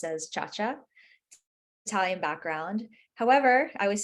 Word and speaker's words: Ciaccia: pronounce your last name yeah so officially it's pronounced as Cha-Cha Italian background however I always say this I